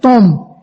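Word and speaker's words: thom: Esta palabra es una palabra griega que se escribe T-H-O-M, tom, y significa aguas o depósitos subterráneos.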